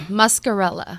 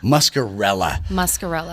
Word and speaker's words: Muscarella: But please make welcome to the airwaves, Muscarella. Did I say it right? Close. You did good. Muscarella. Muscarella. Yes. See, I want to say Muscarella.